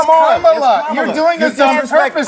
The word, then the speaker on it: Kamala: themselves on giving conservatives a hard time for mispronouncing Kamala Harris's first name. Kamala! You said this. We don't call you Nancy. It's Kamala.